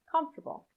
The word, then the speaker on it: comfortable: unstressed syllable can disappear here's an example comfortable comfortable can you hear what's happening the o r after f could be pronounced with a schwa sound comfortable but it often isn't pronounced at all you link directly from the f to the t comfortable try it after me